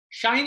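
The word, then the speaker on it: sinh: Shine and cosh. It's not a mispronunciation. It's the pronunciation that we use for hyperbolic function.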